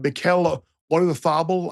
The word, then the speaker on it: Mikel Oyarzabal: Yeah, Portugal to win Portugal to get to the semis, and Mikel Oyarzabal, I believe, is the correct Basque pronunciation.